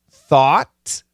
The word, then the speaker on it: thought: pronunciation of the words thought though throughout t-h-o-u-g-h-t thought it's an aw thought thought though it's a